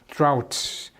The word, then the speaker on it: drought: Years of Great Drought. Drought는 가뭄. dry에서 온 명사예요. 이 GH는 묵음입니다. 발음이 없어요. drought.